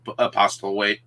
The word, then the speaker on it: Postlethwaite: I think you pretty much said it the way it's supposed to. Postlethwaite. It is how it reads.